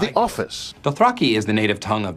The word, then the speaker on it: Dothraki: He pronounces Dothraki, Dothraki.